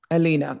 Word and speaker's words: Alina: Alina? Alina, that's how you pronounce it.